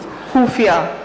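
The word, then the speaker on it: ख़ुफ़िया: खुफिया। खुफिया, खत्म। क्या बात है, खत्म। खाली। आपने खुफिया बोला, मैं तो खत्म हो ही गया।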